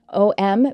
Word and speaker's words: om: an a holy ohm om but when it is pronounced in one long syllable we actually pronounce all three of the sounds which is ah and